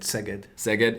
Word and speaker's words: Szeged: Szeged.